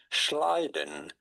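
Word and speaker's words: Schleiden: How do you go about pronouncing those two German names? Schliden.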